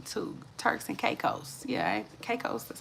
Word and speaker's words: Caicos: Yeah, Caicos, that's how you say it. Caicos.